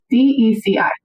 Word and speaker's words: Deci: Is it DC? Deci. Yes, we'll go with DCI and pronunciation.